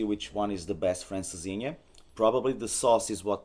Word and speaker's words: Francesinha: That's where I had my first Francesina. How do you say it? Francesinha.